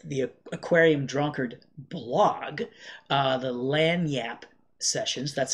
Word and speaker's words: Lagniappe: All right, this is also this is Light in the Attic collaborating with the Aquarium Drunkard blog, the Lagniappe sessions. That's how you pronounce that, not Lagniappe, Lagniappe.